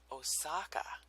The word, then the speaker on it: Osaka: With an American pronunciation, it's Osaka.